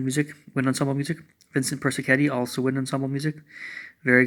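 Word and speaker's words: Persichetti: lot of band music wind ensemble music Vincent Percy Kenny also wind ensemble music very good composer that's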